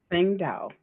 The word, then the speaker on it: Saesaengdao: So the starlight is Sing Dao. Okay. Sing Say that Dao. one more time for me. Sing Dao.